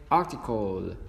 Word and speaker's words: article: Tick là âm short i, âm call chúng ta đưa cái âm l lên trên, article, đúng không ạ? Nhớ là đừng quên cái âm l nha.